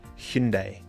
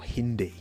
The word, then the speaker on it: Hyundai: That's why I say like Hyundai because that's how the Koreans pronounce not Hyundai or Hindi.